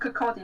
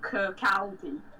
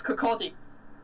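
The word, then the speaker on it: Kirkcaldy: like audi and king horn though was it pronounced kakadi not kirk aldi it's not the aldi of kirkby or something yeah i i i always pronounce it called egg it's kakadi sorry i've been to cody before and i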